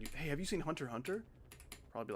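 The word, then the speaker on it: Hunter × Hunter: Apparently, you're not supposed to pronounce the X in like Hunter X Hunter and Spyx Family. Like, why? Why is it there? Hunter Hunter, I for Hunter Hunter,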